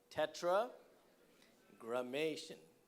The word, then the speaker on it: Tetragrammaton: Tetragrammaton. It's not shun, grammaton.